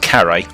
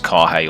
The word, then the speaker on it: Carrhae: So it's pronounced Carrhae, just out of curiosity. I thought it was Carrhae all these years, so I've immediately learned something new.